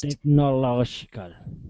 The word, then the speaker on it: technological: So that law is always the loudest syllable there. Technological.